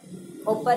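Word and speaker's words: 오빠: atau Kadir asing lagi Oppa disini terdapat otonom dasar yaitu odanna dan disusul dengan konsonan kembar jadi dibaca opa-opa yang hanya memiliki satu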